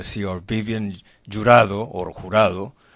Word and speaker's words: Jurado: And you're going to see our Vivienne Jurado, or Jurado. How do, the Americans don't pronounce Jurado, am I right? They say Jurado. Jurados. Vivienne, yes, Jurado. Vivienne Jurado. Spanish. Jurado in English.